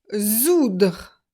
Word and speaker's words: soudre: par indre, donc I-N-D-R-E, ou zoudre. Zoudre, pas oudre. Attention! On a vu le verbe coudre qui est un verbe classique, et là c'est zoudre.